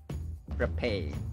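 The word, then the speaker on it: frappé: No, it's not frap. It's frappe. Frappe.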